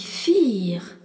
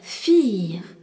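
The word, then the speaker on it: vier: Le nombre 4 se dit fir. V I E R. Fire. Et on rencontre encore le V qui se dit fe et le I suivi d'un E qui est un I long.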